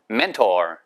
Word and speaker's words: mentor: mentor. 아시겠죠? mentor. 그렇게 발음하시면 되겠습니다.